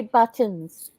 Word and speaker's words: buttons: how do you say buttons this is what I have noticed that Americans don't pronounce teas they go buttons buttons we say buttons buttons you know we don't say the tease I don't know why